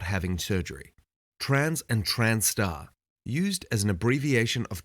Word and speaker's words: trans*: having surgery trans and transar used as an abbreviation of transgender or transsexual or as an umbrella similar to transgender some people use trans with the Asis pronounced transar this is to indicate